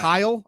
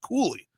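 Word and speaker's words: Cuylle: I thought it was Kyle. I Kyle was my first guess, but it was pronounced Koulie.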